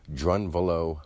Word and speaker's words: Drunvalo: Now, this person's name, Drunvalo Melchizedek, this is a name given to him or taken by him. Drunvalo. Think of drawn value or drawn vital action as it lies ongoing.